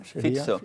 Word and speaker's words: Fico: poco la violencia que había habido contra Robert Fico en Eslovaquia con los mensajes de violencia de